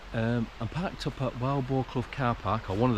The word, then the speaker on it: Wildboarclough: Um, I'm parked up at Wild Blo car park or one of the Wild Ball Club car parks. Um, or Wubercuff as I've been told it's pronounced by locals.